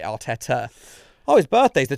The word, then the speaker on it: Arteta: He probably He probably sings Super Mick Artetta even though he actually pronounces it Arteta.